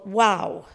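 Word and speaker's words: Wau: town in the Northwest called wow now that's spelled w-a-u however when I looked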